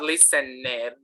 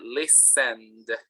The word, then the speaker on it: listened: separated okay all right it's not lisa ned it's actually listened all right listen um